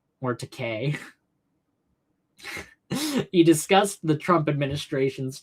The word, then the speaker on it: Takei: Takai went on to say, I keep saying it wrong. Takei went on to say, the new migrant detention